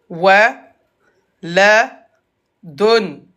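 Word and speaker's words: ولد: Wa, la, don. On. Tassili. On. Waladun. Et à l'arrêt, on regarde la dernière lettre. La dernière lettre, c'est la lettre del. On prononce del comme s'il avait un soukoun.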